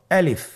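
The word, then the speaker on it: ألف: তাহলে এটাকে কি বলে আলিফ আমাদেরকে বলতে হবে বলুন আলিফ আলিফে কিন্তু কোন টান নেই আপনারা বুঝতে পারতেছেন আমি যখন আলিফ বলছি এর মধ্যে কোন টান হবে না। আলিফ আবার বলুন আলিফ।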